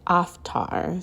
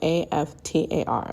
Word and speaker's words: Aftar: and that energy was Aftar. So Aftar, like after, but with an A.